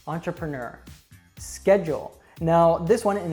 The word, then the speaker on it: entrepreneur: for learners is that we have many French words in English but they're not pronounced like French usually so a really great example of this that you probably would be very confused if you saw it written down as to how to say it is entrepreneur entrepreneur schedule